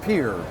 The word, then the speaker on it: Piher: The company is called Piher. That's how you pronounce that. P-I-H-E-R, okay. Drop the H, fishing pier. That's the way you say it.